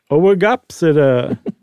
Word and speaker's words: Oegopsida: I figured one of those in the second group, one of those first two letters would have been silent, but they're both pronounced, huh?